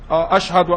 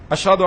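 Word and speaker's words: أشهد: Some people, they say ashhadu, ashhadu, ashhadu. So they've added alif between the ha and the da. So ashhad has altered, when one pronounces it that way, it has altered the meaning of ashhadu.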